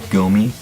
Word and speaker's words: GOMI: name uh it's pronounced gomi it's Japanese it's actually the last name of a mixed martial arts fighter named takanorigomi and Sean